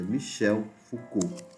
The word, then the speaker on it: Foucault: como se escreve e a forma como se pronuncia Michel Foucault Tá certo vigiar punir né o básico assim que a gente trouxe inclusive no vídeo passado em relação a Michel foua tem a ver com